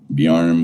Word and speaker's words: Bjarne: Looking at this headstone, now this is Bjarne, whatever, Arne's son. He was the boy. It's Arne's son. This was his daughter. Again, if you don't pronounce the J, so it's Arne daughter.